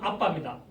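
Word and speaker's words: אבא: 이 우리나라 번역은 아빠 해놨는데 이거는 아람으로 보면은 발음은 아빠입니다. 근데 아에다가 비읍자에다가 바입니다. 아빠.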